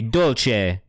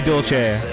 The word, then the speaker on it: Dolce: But like if we were doing Italian, it would be Dolce. So you are correct. You are correct in the classic Italian pronunciation of Dolce.